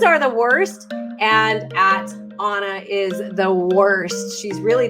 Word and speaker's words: Anna: Now, Onna Macfarlane, and it's Onna, not Anna, Onna like O-N, but it's spelled Anna.